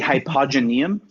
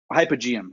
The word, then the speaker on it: hypogeum: heard of the the hypogenium no let's do that hypogenium I believe that's um hypogeum excuse me I added a syllable so what it is